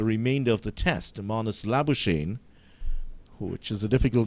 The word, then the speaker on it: Labuschagne: And the English pronunciation of that South African name is Labuschagne, but the Afrikaans pronunciation of that name is Labuschagne.